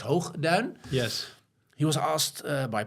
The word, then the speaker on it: Hoogduin: it is, there's actually I don't know how to pronounce his name in English. It would probably be Lex Hoogduin. Let's not go there. In Dutch, we would say Lex Hoogduin.